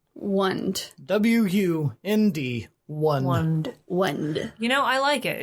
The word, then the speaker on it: Wund: The shaman's name was Wund. Wund. W-U-N-D.